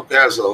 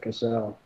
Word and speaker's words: Cassell: Michael Castle, what's going on? Paste. Just 1 second. There we go. Is Michael Cassell in chat? Castle? Yeah. Cassell. Cassell, yeah. We learned that it was he pronounces it Cassell.